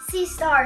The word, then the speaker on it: sea star: Is it a starfish or is it a sea star? Sea star is the correct pronunciation.